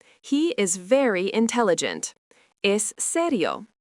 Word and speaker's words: serio: Is serio pronounced serio.